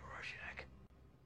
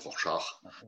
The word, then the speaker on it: Rorschach: From then on, there was only Rorschach.